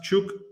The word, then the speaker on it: Chukwuemeka: It is pronounced Chukwuemeka.